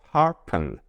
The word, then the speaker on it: sharpen: 알파벳 SH 계속 나오네요. 어떻게 발음되죠? 그렇죠? 쉬로 발음되죠? 그리고 알파벳 AR 어떻게 발음되죠? 불규칙 발음돼 연습했죠? 그렇죠? 따라해 주세요. R 이것을 조금 더 빨리 R 그래서 SHAR 합쳐져서 char 이렇게 발음되죠. 그리고 알파벳 P가 P 이렇게 피읍으로 발음되죠. 그리고 알파벳 N이 합쳐져서 은 이렇게 발음이 돼요. 그래서 다 합쳐지면 sharpen 이렇게 발음되죠.